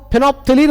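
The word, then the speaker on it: phenolphthalein: चलो दूसरा होता है वो फिनोप्थिलीन होता है मेरे भाई। सिंथेटिक इंडिकेटर में एक होता है फिनोप्थिलीन, फिनोप्थेलीन। बाबू फिनोप्थेलीन में जो पीएच होता है बाबू, ये साइलेंट होता है।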